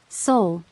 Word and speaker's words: Seoul: She asked, mangling the pronunciation. Seoul, Si-hun corrected gently.